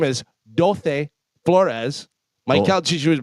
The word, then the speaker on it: Dulce: are, but I believe dulce means sweet. D-U-L-C-E is Yes. sweet, yes. Yes. Is that what you're saying, Dulce? That like that? Dulce. Dulce. No, sorry. Yeah, that's how you're supposed to pronounce it.